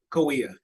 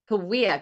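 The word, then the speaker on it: Kaweah: And how do I pronounce it? It's Kawa. Kawia. Kawia.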